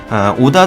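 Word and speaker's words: 織田: 주인인 2의 주인공인 이 오다 노부나가는 이제 오다가 성씨의 오다가 직장 남은 이라고 하는데 그게 인제 오다 가문 입니다 한자 로 그냥 우리나라 발음으로 읽었을 땐 직전이 되는 것이고 일본식으로 읽었을 때는 오다가 되는거예요 여러분들도 뭐좀 관심있으신 분들은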